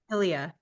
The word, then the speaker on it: Ilia: She is the VP of e-com and digital at, I'm gonna mispronounce. Is it Ilia or Ilia? Ilia.